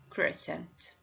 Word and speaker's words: crescent: And the last one, it's a crescent. So all these words have the silent C and this letter preceded by the letter S. So because of that is silent.